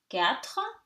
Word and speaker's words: quatre: Here, QU, again, K, quatre.